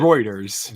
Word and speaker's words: Reuters: Um roer rotors website routers, how do however you pronounce it? Reuters.